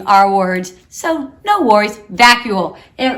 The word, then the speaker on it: vacuole: How about vascule? Okay, or vacuole. Dang it. Close. You almost got it, Mr. Cox. I was but thinking potato. You're thinking potato. We're all learning our words, so no worries. Vacuole.